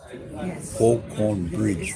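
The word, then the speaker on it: Faulconbridge: Yeah, it's pronounced Fall, F-A-U-L, Con Bridge. Falcon Bridge.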